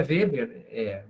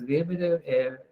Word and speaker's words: Weber: Todo nome alemão que terminar em ER, se pronuncia A no final, tá? O meu é Weber, mesmo do Max Weber, pronuncia Max Weber.